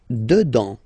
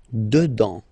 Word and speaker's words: dedans: Dedans. Final S not pronounced. Dedans.